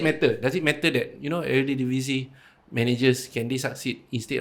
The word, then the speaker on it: Eredivisie: There's also people saying Spanish managers fits the EPL better compared to Eredivisie managers. Eredivisie, Right? Is it? Did I pronounce it correctly? Eredivisie, yeah.